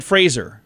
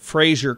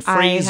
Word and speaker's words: Fraser: rhymes with razor Brendan Fraser it's not like that you know TV guy Frasier Crane it rhymes with razor Brendan Fraser I have no idea